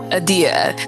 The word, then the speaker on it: Adia: So So I have a a question about the pronunciation, how you pronounce your name. You said Adia. Adia.